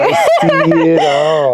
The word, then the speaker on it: icy.itall: So like I'm so icy. Okay. I see it all.